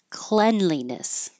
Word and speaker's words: cleanliness: Cavalry squeamish squeamish and the word by itself clean is pronounced with an E clean but for some reason when we say this word we change the E to an E and it's clean cleanliness cleanliness don't why clearance